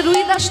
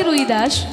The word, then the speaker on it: রবিদাস: তার নাম হচ্ছে রুইদাস আসলে রুইদাস তার নাম নয় বাবা বাঙালিরা করে দিয়েছে রুবিদাস বাঙালিরা বলে রবিদাস আসলে তার নাম হচ্ছে রবিদাস রবিদাস তা দেখবেন হিন্দিতে